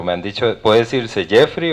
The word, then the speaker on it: Geoffrey: Por aquello mi nombre es un poco diferente, entonces yo lo pronuncio Geoffrey, pero suena como a yo freí un huevo. Entonces, para que se les vaya quedando, pero me han dicho, puede decirse Jeffrey o Joffrey, no sé, incorrecto, pero